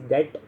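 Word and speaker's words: debt: डेट होता है, या इसको आप डेप्ट पढ़ते हैं, इसको basically pronounce B silent, it इज़ डेट।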